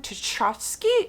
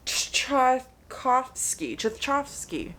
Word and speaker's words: Tchaikovsky: Shards of Earth by Adrian Tchaikovsky. No, that's not how you say his name. Tchaikovsky.